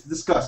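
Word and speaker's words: Disqus: It's Discuss. I think they meant to say it like Discuss.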